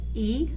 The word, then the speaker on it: EGBDF: It said E-G-B-D-F.